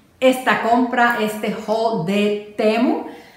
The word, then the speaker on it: Temu: compra este Hall de temo creo que en inglés le dicen chimu a mí como que no me gusta decirle te amo pero es bueno en cada lenguaje se pronuncia diferente dime si tú has